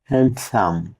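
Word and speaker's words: handsome: এইচ এ এন ডি এস ও এম ই হ্যান্ডসাম। এখানেও ডি লেটারটি silent থাকবে।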